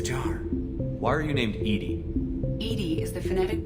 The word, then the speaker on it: EDI: airlock is a jar why are you named Edie Ed is the phonetic pronunciation ation of Ed that is an acronym